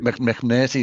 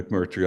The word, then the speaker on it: McMurtry: McNerty. Yeah, yeah. I Yeah, I pronounced it love wrong. Larry McMurtry.